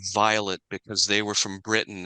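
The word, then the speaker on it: Vilate: in the LDS World Violet's name is spelled v i l a te it's clearly Violet because they were from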